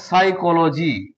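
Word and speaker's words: psychology: পিটা পড়া যাবে না এটা সাইকোলজি এখানে পিটা পড়া যাবে না কেন পি এর পর এস আছে তার জন্য এখানে পি এর পর এন আছে তার জন্য এখানে পি এর পর টি আছে তার জন্য এখানে এস পড়া যাবে না।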